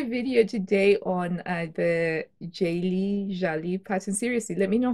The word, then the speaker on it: Jalie: jelly jelly jelly so turns out it's pronounced jelly hopefully I've said that